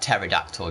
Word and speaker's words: pterodactyl: What was that pterodactyl joke again? Why do pterodactyls urinate quietly? The P is silent or something.